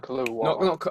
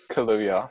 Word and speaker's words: Kaluuya: I can't pronounce his first name. His last name, sorry. Is it Daniel Kaluuya? Kaluuya.